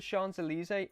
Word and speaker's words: Champs-Élysées: believe it's called the Champs-Élysées, or I know it's not wrote like that, but I believe that is how it's pronounced, and it's basically just